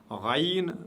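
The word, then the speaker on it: غين: Raïn, raïn, qui n'existe pas dans la langue française, est prononcé toujours lourdement, aucune exception.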